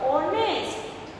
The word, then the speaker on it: honest: Spelling is starting with H बट एच is silent, we आर pronunciate this word honest, so vowel sound word is coming, that's we will write here N.